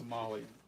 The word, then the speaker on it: tamale: It's just pronounced tamalei.